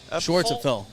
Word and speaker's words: Schwartzapfel: Schwartzapfel. It sounds exactly as it's spelled. Okay. Schwartzapfel. I think people are intimidated by it, and they just stop at Schwartz.